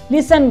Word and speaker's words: listen: यहाँ पर T silent है, इसलिए हमने T नहीं बोला, इसको हमने listen बोला.